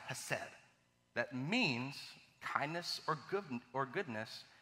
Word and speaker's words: hesed: In our scripture today that we see a Hebrew word called, pronounced, hesed, that means kindness or goodness, and when it's